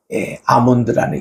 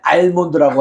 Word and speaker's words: almond: 그래서 이 아몬드라는 이름을 우리 아몬드 열매를 먹잖아요, 실제로. 예, 그겁니다. 오. 그래서 그게 ALMOND인데 예, L이 묵음이라며? 알몬드라고 하면 안 돼요. 예, 아몬드. 예. L이 묵음이니까.